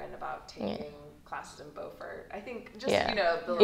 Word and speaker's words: Beaufort: It's spelled the exact same way, so it's really That's funny. confusing. Yeah. That's how you pronounce it. Yeah. I didn't pronounce it correctly.